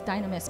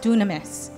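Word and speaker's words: δύναμις: word power is actually looks like it says Dynamis but it's pronounced Dunamis nobody say Dunamis okay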